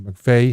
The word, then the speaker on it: McVie: weeks ago that is Christine McVie or McVay however you want to pronounce it I think it's MCV actually uh McPhee wrote Songbird